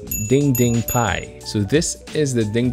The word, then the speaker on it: DDPAI: this if you're driving it's supposedly dd pai right but it's actually pronounced as ding ding pi so this is the